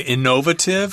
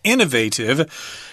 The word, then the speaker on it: innovative: You might hear British people say innovative. I've heard that pronunciation before, but the American pronunciation is innovative, which means it's new,